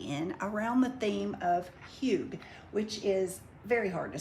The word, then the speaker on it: hygge: around the theme of huge which is very hard to spell it is h-y-g-g-e doesn't look like huge but it is it is a Danish